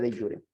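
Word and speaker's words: de jure: Ok ahí está se escribe jure pero se pronuncia de yure Okay tenemos dos tipos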